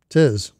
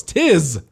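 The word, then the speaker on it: 'Tis: like tis the season I'm like no it's Tiz not Tiss anyway oh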